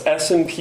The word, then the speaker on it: SNP: That's SNP, or pronounced SNP.